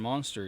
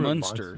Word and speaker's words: Munster: I bet Yamo knows who Herman Monster is. Why you got Well, it's Herman Munster Monster? is who it is. Herman Munster. Munster, yep, with a U.